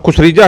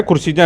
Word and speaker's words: खुर्सीजा: आप खुसरीजा है खुर्सीजा है, पहले ये बताओ। लोग तो ना खुर्सीजा हैं जी। खुर्सीजा, हाँ जी, ये थोड़ा गलत कई बार उच्चारण हो जाता है।